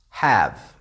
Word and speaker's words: have: Have, v. This is the sound, the V, not the E. The E is silent.